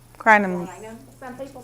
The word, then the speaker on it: Crinum: Crinum. Crinum. Crinum? Some people say crinum lilies. How do you spell that?